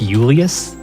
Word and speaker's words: Julius: So now we're in, his name's spelt Julius, but we learned that it's actually pronounced Julius. Yeah. That's neat. like Spanish pronunciation.